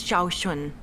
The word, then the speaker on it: Shaun: are you all right Miss shun my name is Shaun this is the proper way to address someone in